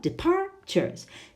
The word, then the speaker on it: departures: that one three syllables is the stress on the first the second or the third syllable well it's all the second not departures departures departures the second syllable what about number two